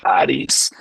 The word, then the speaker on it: Charis: Eh, pero el nombre no fue solamente escogido por las siglas en inglés, incluso el Papa Francisco lo pronunciaba como Haris, eh, porque Haris viene una raíz griega que significa gracia.